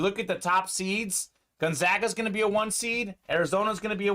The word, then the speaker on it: Gonzaga: I would like to see Gonzaga or Gonzaga. I hear the different pronunciations. I go with Gonzaga.